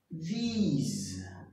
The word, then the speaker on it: these: O plural, você tem que lembrar da letra I e falar, ó, these.